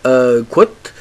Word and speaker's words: Kwout: Et Qt est d'une certaine manière la prononciation avec laquelle on prononce le mot anglais quote, qui veut dire citation. Et comme vous allez pouvoir le voir, Qt vous permet de faire des choses assez intéressantes.